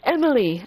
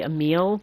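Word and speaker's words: Emille: Princess Emily! And I know it should be Emile, but whenever I see it, it's going to be Emily, so sorry.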